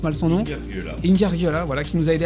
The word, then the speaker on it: Ingargiola: invité naturellement Lionel Rinfra, à Éric Ingargiola, je prononce mal son nom, Ingargiola, voilà, qui nous a aidé à préparer cette émission.